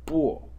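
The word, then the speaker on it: 癶: So unbelievably, this top section over here is pronounced bo and is the phonetic element.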